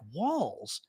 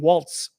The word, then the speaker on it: Walz: and I was like walls walls so the Z is pronounced as an S okay I was thinking Waltz almost right okay so